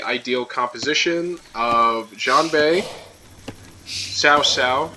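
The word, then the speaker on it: Cao Cao: I don't know who could best the way with the ideal composition of Jean Bay Sao Sao, even though it's spelled cowcow, which uh elevates attack speed by 10%.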